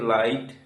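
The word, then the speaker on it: light: এখানে দেখো জিএইচ এর আগে আই এর উচ্চারণ আমরা পাচ্ছি কিন্তু জিএইচ এর উচ্চারণ হচ্ছে না। কেননা জিএইচ এর আগে আই ভয়েল রয়েছে। একইভাবে এল আই জিএসটি লাইট টি আইজিএসটি টাইট আর আইজিএসটি রাইট এম আই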